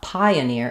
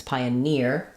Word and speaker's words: pioneer: Pioneer, and actually, sorry, it's not pioneer, it's pioneer, last syllable stress. So secondary stress on the pi syllable.